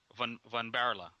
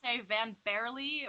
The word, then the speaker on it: van Baarle: again please if you would oh yeah it's pronounced bombarlo van barela yeah environment yeah okay all right we'll try